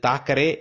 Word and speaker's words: Thackeray: Therefore, pillangalukku solli kudukkumbodhu, pillanga padikkumbodhu, make sure they pronounce properly Sunday, Monday, Tuesday, Wednesday, today, birthday. William Makepeace Thackeray. இது தாக்கரே இல்லை, நம்ம ஊரில் ஒரு தாக்கரே உண்டு, அது தாக்கரே இல்லை, அது தேக்கரே.